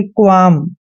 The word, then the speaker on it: qualm: दोस्तों, एम से पहले एल आता है तो एल वहां पे हमेशा साइलेंट रहता है और क्याऊ का उच्चारण हमने आधा कै करना है और मैंने आपको बताया यू के बाद अगर ये आता है तो यू ए का उच्चारण वह और आ की मात्रा करते हैं। एल का उच्चारण हमने नहीं करना है, एम को मैं पढ़ते हैं, यानी कि क्वाम। जिसको क्वालम नहीं पढ़ना, आपने क्वाम पढ़ना है।